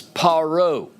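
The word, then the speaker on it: פרעה: that too much but in hebrew pharaoh is paro parrot and in egyptian in egyptian you will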